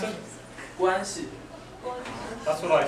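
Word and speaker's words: 关系: Guanxi. That's what I said. There's different tones in Chinese, right?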